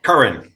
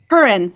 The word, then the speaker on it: Curran: We have Curran. Did I pronounce that correctly? Curran. Curran.